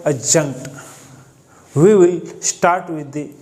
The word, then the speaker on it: adjunct: को देख सकते हैं, इस वर्ड में हमारा जो सेकंड लेटर होता है वो डी होता है, लेकिन जब हम इस वर्ड को प्रोनाउंस करते हैं तब हम लेटर डी को प्रोनाउंस नहीं करते। यहाँ लेटर डी साइलेंट होता है और इस वर्ड की जो सही प्रोनाउंसिएशन होती है वो adjunct होती है।